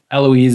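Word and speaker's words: Héloïse: h if you're french you wouldn't say it yeah and if it's an age in front of a valley it's silent yeah so anyway the ghost of eloise is still uh the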